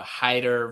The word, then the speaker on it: Hyder: Yeah, good call out on a Hyder versus whatever you might think that it is when you read it. I will say I have talked with Savion about this because I like to get pronunciations of names right, and he even called it out. He was like, I know when people read it, what people think that it is. So Savion Hyder, get it right, and try your